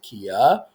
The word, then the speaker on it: Quia: says free account I say it's queer they pronounce it Kia but someone could steal it so we're going